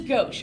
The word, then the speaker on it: gauche: It looks like gauche, but it is gauche. I know that this is actually how you pronounce gauche, okay?